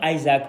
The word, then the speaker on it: Isak: Alexander Isaac or Isak depending where you live because the pronunciation are different is arguably one of the best striker in the world in England for sure.